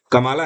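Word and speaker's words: Kamala: कई लोगों को लगता है भारतीय मीडिया लगातार इनको कमला हैरिस बोलती रहती है। ध्यान रखिए वहां पर कमला विमला जैसे नाम नहीं चलते हैं। इनका जो सही प्रोनाउंसिएशन है वो कमाला हैरिस है।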